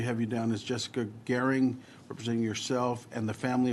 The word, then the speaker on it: Gehring: Chair now calls Jessica Gehring. Oh, you said it right. I knew it was me because you took a second. With my last name. We have you down as Jessica Gehring, representing yourself in favor of the bill.